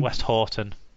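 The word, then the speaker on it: Westhoughton: Next one is this West Houghton? Is that how you pronounce it? West Houghton? West Horton.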